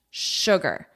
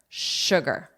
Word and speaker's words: sugar: Sugar. Sugar.